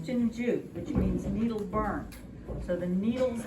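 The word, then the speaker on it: 針灸: this whole practice of medicine in chinese is pronounced tunju which means needle burn so the needles and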